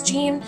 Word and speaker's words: Jean: that and it is it's pronounced like that in the English language but if you were a French person individual or if you are not a French person you just want to know how it's pronounced French since it is a French to ribbon name it's shown it's your whole I feel